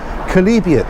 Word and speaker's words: chalybeate: world was iron rich name of that is kalibian very strange name as you'll see it's spelled there at the bottom of your screen kalibian that's how you pronounce it um it's good this was calibrated